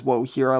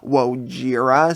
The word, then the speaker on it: Wojira: they actually do mention Wohira, and I've been pronouncing it as Wohira like with an H, but it's actually Wojira, so that's very interesting.